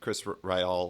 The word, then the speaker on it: Ryall: everything, you said Chris Ryall was, God, I never know how to pronounce that. Ryall? Just Ryle, yeah. It comes from Riley, the Irish name, so it's Ryle.